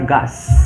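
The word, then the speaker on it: घास: Rumput itu bahasa Indianya gas. G-H-A-S. Bukan gas ya, bukan gas apa segala macam ya, tapi gas. G-H-A-S dibacanya gas.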